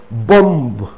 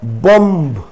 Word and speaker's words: bomb: end of a word for example we generally pronounce bomb but keep it in your mind it is not bomb it's not bomb the last sound is so just pretend that the last b is not there in the word boom